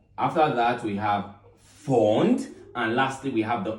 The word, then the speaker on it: Pfund: Okay, the P is silent, the Pfund series.